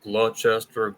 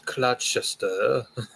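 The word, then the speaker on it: Gloucester: going to be like actually it's pronounced clester or something sorry I'm American it's clester I'm sorry I'll stop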